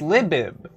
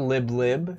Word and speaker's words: Libib: but it's this uh is it pronounced lie lib it's it's l-i-b oh it's libib it's not lib lib it's libib don't listen